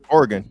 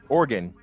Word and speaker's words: Oregon: say wrong how you say it m fantastic Oregon how y say Oregon y like that too